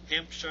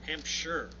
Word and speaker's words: Hampshire: she is from Colton Hampshire or Hampshire Hampshire I got to make sure I pronounced right I used to say Shire Hampshire England so Julie thank you